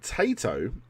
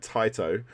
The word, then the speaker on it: Taito: sega they're teaming up with tato uh i'm not saying it right taito to create the irish